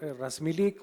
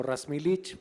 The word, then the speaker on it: Razmilic: Mi nombre es Razmilic o Razmilic, dependiendo de cómo lo quieran pronunciar, y soy el director de transformación digital de HIR Seguros, empresa del grupo HIR, 100% mexicana.